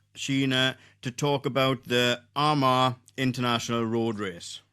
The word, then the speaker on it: Armagh: I struggle with saying Arma. So, how do I say how do you say it? We're good. Arma. Arma.